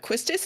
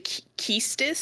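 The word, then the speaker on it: Quistis: standard accent so like another one that me up is uh quistus is actually kiestus it's yeah and I've always called her quistus like I just think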